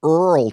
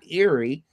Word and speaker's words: Erle: of all things is how you suppose that's pronounced Irie I look like Earl to me but it's eerie yeah Erle Stanley Gardner's and he wrote good